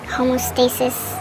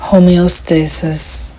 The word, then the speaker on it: homeostasis: Weed causes homoasis. I don't know if that's how you say it. Homeostasis. I literally realized after this that I was saying it wrong the whole time.